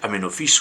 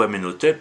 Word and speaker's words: Aménophis: Aménophis, alors, vous prononcez Aménophis ou Aménotep, parce qu'il faut savoir que en égyptien, dans les hiéroglyphes, tout comme dans les langues sémitiques, les voyelles n'existent pas. Donc on peut indifféremment prononcer Aménophis, Aménotep, ou comme Freud qui lui disait Hyménophis. Donc là, je prends le parti de prononcer Aménophis.